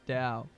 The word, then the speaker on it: Tao: yeah you know the story uh it's actually pronounced Dao the Dao yes because that's what I thought his day was when I first read it but yeah I thought it was like like Teo like the Dow I was like that's a